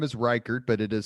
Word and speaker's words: Ryckaert: last name so so your last name is reichert but it is spelled yeah it's r y c k a